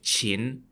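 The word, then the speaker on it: Qin: to assassinate the king of the kingdom of chin spelled q-i-n uh yeah long story short failed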